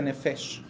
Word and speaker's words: nefesh: con toda su alma en hebreo la palabra alma se pronuncia nefes y literalmente significa garganta